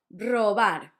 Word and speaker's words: robar: First one, robar, to steal. The tricky bit was to know that the first one was a hard one, r, and the last one was soft, r, robar.